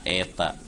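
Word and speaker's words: η: Ini dibacanya eta.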